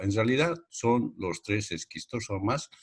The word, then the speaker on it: Schistosoma: En realidad se lee esquistosoma y se escribe schistosoma, ¿no?